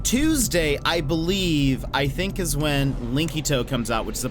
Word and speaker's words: Linkito: Linkito. So it's spelled like Link and then ITO.